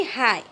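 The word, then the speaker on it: high: तार साइलेंट रही जाऊँगी जेपरी हाय हाय रे हाय HI टा शुभुची GH टा नीरव रही जाऊँगी जिते आम प्रोनाउंसिएशन कर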